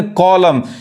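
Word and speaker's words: column: तो यहां देखिए, यहां पे कॉलम नहीं कहेंगे, हम क्या पढ़ेंगे? कॉलम, यानी ये यहां तक पढ़ाएगा। एन क्या है? साइलेंट है।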